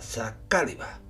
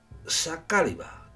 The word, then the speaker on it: Saqāliba: los reinos de taifas creo que se pronuncia saliba Espero que lo haya